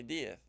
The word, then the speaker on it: Diez: No, it's spelled with an E, and I say Diaz.